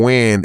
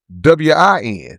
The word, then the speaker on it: Nguyen: Because for y'all that don't know, Wynn is the I guess the Asian with how you spell it, NG. NGUYEN. Okay, yeah. So you parlay that into right, but that name is big. It's a common name, but you parlay that into WIN. There you go.